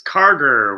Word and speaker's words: Karger: want to butcher it it's kargar with a hard G Hardware whatever yeah I